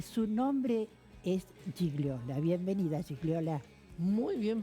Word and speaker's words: Gigliola: Bienvenida, Gigliola. Muy bien pronunciado, un 10 in italiano.